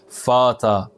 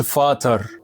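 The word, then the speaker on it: Vater: غوت غوت يعني احمر ولو جت في اخر الكلام انسى انها موجوده اصلا وافتح الحرف اللي قبلها زي كلمه فاتا فاتا ما تقولش فاتر قول فاتا شفت السهوله بس الار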